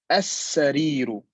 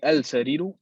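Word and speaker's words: السرير: Lastly here, al-waraku, and we don't say al-waraku, we say al-waraku. So al-waraku, that's how it's pronounced.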